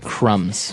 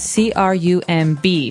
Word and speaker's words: crumb: that the word crumb has a B on the end c r u m b but we don't pronounce the b we just say Crum